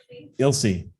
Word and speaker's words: Ilse: Sherry uh is it it's Ilse how do you pronounce it you'll see all right I would have gotten it wrong yeah that's a plus